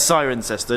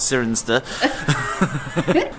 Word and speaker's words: Cirencester: I have to go it's siren sester not serener this was another Roman